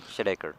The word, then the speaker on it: Shedekar: pronunciation. How do you say your last? Shedekar.